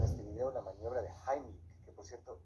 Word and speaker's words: Heimlich: Esté muy bien, vamos a ver en este video la maniobra de Heimlich, que por cierto, esa es la pronunciación correcta porque está en alemán, la mayoría dice Heimlich, pero bueno, se entiende de qué se trata.